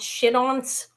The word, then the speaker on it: chiton: And these are actually pronounced shit-ons. Okay, shit-on. When I looked them up online, it sounded like shit-on.